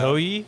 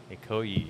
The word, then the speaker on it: Ikoyi: Ikoyi? Ikoyi, Is that how yeah. it's pronounced?